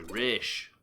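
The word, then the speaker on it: Ra's al Ghul: So it's spelled Raz Al Ghul. Oh, sorry, Raish.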